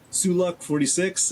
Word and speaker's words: Sulu 46: they came from and the name is super hard to pronounce and everyone kind of pronounces differently but it's Sulu 46 and I don't know